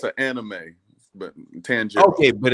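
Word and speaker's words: Tanjiro: man thank you sir and how do I pronounce that name it's tangero it's from it's an anime but tangero okay but it's tangero black truth black truth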